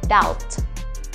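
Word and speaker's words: doubt: Inggrisnya ragu itu kan setelah huruf b kita ketemu dengan huruf t ya Nah itu b nya nggak usah dibaca jadi langsung aja down atau kalau teman-teman punya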